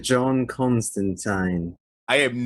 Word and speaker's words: Constantine: by neil gaiman himself who pronounces it constant time so i'm gonna start being fancy and i'm gonna start saying john constantine i am not gonna